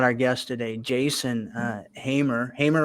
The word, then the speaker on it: Hamer: uh excited about our guest Today Jason uh hamr HR right I pronounce that right Hammer y uh Jason hamr he is a u business owner kind of